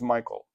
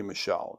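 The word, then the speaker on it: Michal: The name of his older daughter was Merab, and that of the younger was Michael, or could be Michelle. I don't, Michael is how it's typically pronounced.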